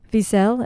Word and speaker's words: Wiesel: story told by the actual survivor um ellie wiesel is how you say his last name and